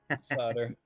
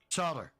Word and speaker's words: solder: Solder. Solder. Right. We do pronounce the L over here.